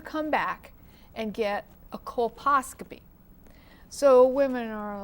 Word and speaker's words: colposcopy: So the colposcopy, did I say it right?